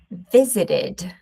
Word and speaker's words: visited: Visit ends in T. Accept ends in T. Attend ends in D. Decide ends in D E. In the past, we're going to pronounce in American English is visited. visited You can also say visited. It's no problem, okay? American English visited.